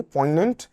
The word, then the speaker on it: poignant: Poignant, हाँ, poignant नहीं, poignant होता है इसका प्रोनाउंसिएशन.